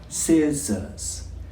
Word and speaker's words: scissors: Remember, we don't say the C, it's a si sound. Scissors.